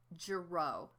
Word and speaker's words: Girot: By the way, my name is pronounced Girot. If you've had any French classes, then you know that when there's like an S or a T or a Z at the end of a word, they're silent.